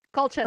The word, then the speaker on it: Colchester: His Colchester Historical Hub, I don't know how to say, did I mispronounce that? Colchester.